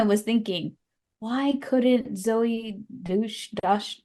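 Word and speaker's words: Deutch: The whole time I was thinking, why couldn't Zoe Dush, how do you say her last name? Deutsch.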